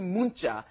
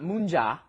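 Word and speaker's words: 문자: our pronunciation is not munja okay you don't pronounce it mja that neon that comes right before it forces it into a hard consonant a tense consonant you say great how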